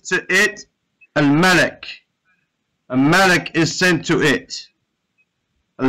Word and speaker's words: مَلَك: And as we said, with a fata, it's angel. With a kasra, it's king. So make sure we say it right, right? Malak, with a fata, is an angel.